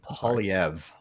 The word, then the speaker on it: Poilievre: Pierre how do you say the last name pauliev thank you as party head I've mispronounced that all week long um the Conservative